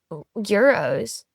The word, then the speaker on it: gyros: So are gyros just a lie? Yeah, It's an yeah. American Greek food. No. So euros. Oh, I call them I gyros. know, but that's the locals say euro.